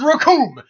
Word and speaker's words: Rasslor: Oh, you better be running, brother, because the name is Raccoon, and it rhymes with doom.